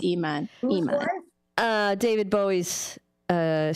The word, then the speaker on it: Iman: No, that's Aman. Iman. I think it's Iman. Aman. You're right. It's Iman.